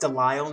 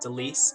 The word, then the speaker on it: Delisle: You can email that to, it's pronounced Delisle, not Delise, at excuse me.